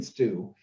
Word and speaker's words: Stu: So Chicken Stew, even though it's spelled STU, we didn't want to be too blunt.